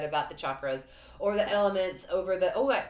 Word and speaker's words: chakras: a really funny thing, because I said chakras, you say chakras. It's like Charles and Charles, or what is the other, that cheese, y'all, the cheese word. That's CH, but it's not pronounced like cheddar.